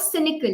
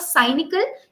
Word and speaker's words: cynical: Okay, such a person is called cynical. Listen to the pronunciation. It's not cynical, it's cynical. All right.